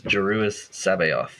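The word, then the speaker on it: Joruus C'baoth: joris my God guys how do you pronounce that name I'm been calling him kabo but kabo kabo yeah but uh Scott what does the AUD book say the so the audio book says jusis Sabo yeah jeris Sao wow well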